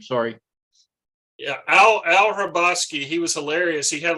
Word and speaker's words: Hrabosky: Hrabosky is Hrabosky. HRA. No, the HR could be Hungarian with a little a Polish twist or something.